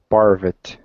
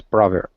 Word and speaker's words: poverty: Joshua, how about parvet? I'm not sure if it's pronounced correct. Poverty? Yes, poverty. Poverty. Poverty. And it's almost got like a D.